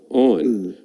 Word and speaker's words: On: Because if you notice, On is what you do when you turn your light on. On. On is how you really pronounce it.